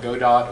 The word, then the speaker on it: Godot: they asked the guy how do you say it says I don't care call whatever so you can call it go dot or Godot we want to lose